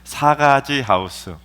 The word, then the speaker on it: 사가지 하우스: 발음을 잘해야 돼요. 순하게 말해야 됩니다. 큰일 납니다. 사가지 하우스.